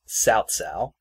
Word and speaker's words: Cao Cao: an S, but no, you're supposed to put a T in it, so it's Cao Cao.